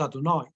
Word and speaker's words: Adonai: For the first time in the book of Shemot, the four-letter name of God, the word Yud-Kei Vav-Kei, the word that we pronounce Adonai, this is God's name,